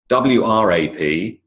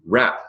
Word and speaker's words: wrap: of a words where the letter appears but it's simply ignored. It's simply not pronounced. Notice WRAP is a word and RAP is a word. You wrap a present with a